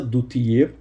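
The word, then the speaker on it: Du Tillet: Ora, existe um manuscrito em hebraico de Mateus, o manuscrito de Duthier, essa pronúncia francesa, Duthier, e esse texto em hebraico assim dispõe.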